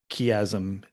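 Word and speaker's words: chiasm: Um for those for for those playing along at home, in case the word kasm is new to you, it's spelled chi.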